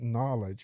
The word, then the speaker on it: knowledge: You know, or why is there a K in front of an N when it doesn't get pronounced?